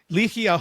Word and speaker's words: Ligia: Ligia, right? Yes. Is that correct? Ligia, yes. Ligia. Yes. All right. So I'm putting the emphasis on the wrong spot. Ligia Hoban is her name,